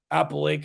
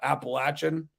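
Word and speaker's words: Apalachin: New York called appalachin It's pronounced Apple Lake and not Appalachian and it's spelled a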